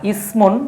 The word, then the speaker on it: اسم: একটা হচ্ছে সা আর একটা হচ্ছে সিন।